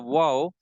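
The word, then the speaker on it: و: is wow right wow in pronouncing the wow the uh it has to be pronounced from the lips lips got the circular shape when they got circular shape then wow has to be pronounced wow right so so wow will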